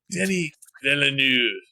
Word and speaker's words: Denis Villeneuve: The first film was so epic that I don't mind pronouncing Denis Villeneuve, like the full French pronunciation to his name. Like, all right, Dennis. But no, it's Denis Villeneuve, who's not so full